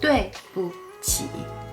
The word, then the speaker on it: 对不起: Notice the tone here. The word in the middle, 不, here is pronounced in a neutral tone. It's lighter and softer than the normal pronunciation 不 or 不. 对不起.